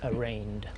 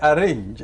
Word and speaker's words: arraigned: It's arraigned. It's like campaign. It's the G is silent. Sorry, I'm not meaning to. But it's a common. Well, a fuller man in the Gambian context will say arrange.